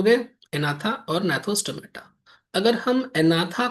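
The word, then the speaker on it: Agnatha: इसको बोलते हैं एनाथा। ठीक है? अनाथा अनाथा या अनाथा अनाथा या एनाथा जी साइलेंट है ठीक है और ये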